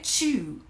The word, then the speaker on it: chew: E o chew, de mastigar, tem um som de ch, porque é CH e não vem do francês. Então aí é chew.